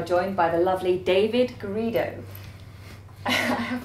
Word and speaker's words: Garrido: today we are joined by the lovely David greo I have pronounced that correctly you have yeah that is